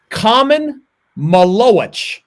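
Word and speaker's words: Khaman Maluach: I I saw a video his name is common maloit that's how he pronounced it he's 7 foot2 250 pounds five-star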